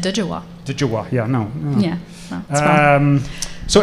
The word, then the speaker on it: Djwa: Emma's name is spelled DJWA, so it can be a little challenging for people, I guess. It's usually said Dijawa.